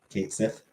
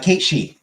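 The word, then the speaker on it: Cait Sith: Kate Sith. It's Kate Shi. It's pronounced Kate Shi.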